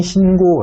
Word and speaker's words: 신고: 세원 이라고 나와 있죠 체언 이기 때문에 이 경우에는 된소리 되기 없이 신고 라고 발음을 합니다 자 그렇구나 하시면 되겠구요